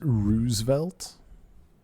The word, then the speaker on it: Roosevelt: Roosevelt oh that's embarrassing I believe it's pronounced Rosevelt two o's what else could it be no I don't understand